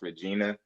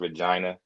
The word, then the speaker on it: Regina: that quickly too that it's not pronounced Regina. Okay. It's pronounced Regina. Like yeah, they corrected Regina. me. Yeah, they corrected me so fast because I said Regina too. Like, cause you think it's spelled just like it, so you would think it's pronounced like it, but nah.